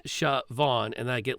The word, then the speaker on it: Siobhan: name to people because it's siobhan with the gaelic spelling and like as often